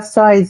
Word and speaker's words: Seus: Na verdade se escreve Seus, mas se fala Sóis, mas acaba que a gente vai aceitando as duas pronúncias, vamos dizer Seus e Sóis, porque uma é a forma que escreve, a outra é a forma que fala. Ah, sim.